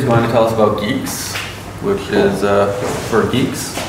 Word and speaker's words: Guix: Geeks so Geeks is a new thing it's pronounce Geeks like gu and not gu and geks okay